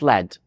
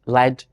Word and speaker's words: lead: depending on its meaning if it is a noun it's pronounced LED if it is a verb it is pronounced lead that is really interesting